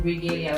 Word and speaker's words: Regalia: Lois, that's spelled as Lois, then Regalia, like regal, Regalin, as Lois Regalia on every platform.